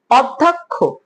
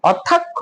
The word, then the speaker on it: অধ্যক্ষ: আর ওকে তারপরে কি এখানে অধ্যাক্ষ আবার বল অধ্যাক্ষ নাকি অধ্যক্ষ এার উচ্চারণ হবে অধ্যক্ষ ও লক্ষ এই প্রশ্নটা